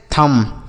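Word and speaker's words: thumb: इसे हम पढ़ते हैं थंब। क्या पढ़ते हैं? थंब। यहां पर थंब नहीं पढ़ेंगे बच्चों। ये जो बी लिखा है ना यह साइलेंट होता है। इसे पढ़ेंगे नहीं। लिखा जाएगा लेकिन पढ़ा नहीं जाएगा।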